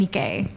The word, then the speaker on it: Nikke: How do you pronounce it? Eleg and Nikkei.